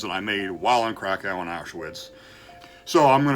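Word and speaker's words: Kraków: So as I record this, 3 years ago today, I was in what Americans say Krakow, Poland. The correct pronunciation, I believe, is Krakow.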